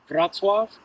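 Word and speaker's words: Wrocław: Kkow, but I'm going to be going to Vatzwave. Don't uh if I spell that for you, it will not look like Vatzo, but I'm pronouncing it correctly.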